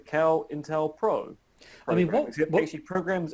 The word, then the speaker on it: COINTELPRO: We now have a de facto pronunciation of the program. It is the COINTELPRO.